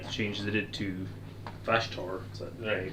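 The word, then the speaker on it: Vashtorr: I really like the changes they did to Vashtor. Is that the way you pronounce it?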